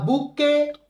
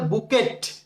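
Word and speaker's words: bouquet: আচ্ছা, তারপর হচ্ছে ফ্লাওয়ার্স, ফুল, বলছে না আ বুকে অফ ফ্লাওয়ার্স, এক তোড়া ফুল। অনেকে বুকে কে বলে বুকেট, বুকেট হবে না, এখানে টি হচ্ছে সাইলেন্ট লেটার।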